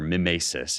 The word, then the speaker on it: mimesis: And I'm going to argue that mimesis, or mimesis is the way you pronounce it in Greek, but I'm going to say mimesis as sort of the English way of pronouncing it.